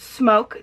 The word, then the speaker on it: SMOK: the smoke g80 and yes this is pronounced smoke the only reason some